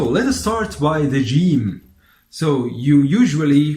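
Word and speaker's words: جيم: usually your pronounces gene as I told you like in George are also like if you are saying giant for example gene gene but in the world game game in English this is a pronunciation or that we use in the Arabic dialect of Cairo or of Alexandria for example so gene gene is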